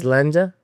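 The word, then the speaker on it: Sláinte: Slanja.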